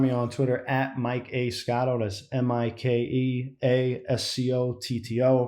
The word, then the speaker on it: Scotto: on twitter at mikea scotto that's m-i-k-e-a-s-c-o-t-t-o pronounced like a lotto um check out my